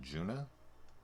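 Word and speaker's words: Djuna: Obviously the D is silent, so Juna. Is that her name in the movie?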